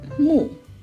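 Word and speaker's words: 木: it will mean forest wood itself is pronounced mu and we have three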